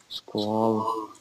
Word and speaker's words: Sqal: Do me a favor and spell it if you will. SQAL. Squall.